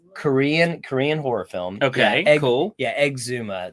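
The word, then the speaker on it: Exhuma: Korean horror film yeah egg Zuma that's how it should be pronounced if you took the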